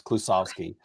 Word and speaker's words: Klusovsky: It's Klusovsky. It's odd. It's sounds exactly like it's spelled, which in English is kind of weird.